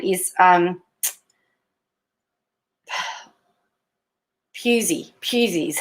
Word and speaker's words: Pusey: Pusey is how it's pronounced.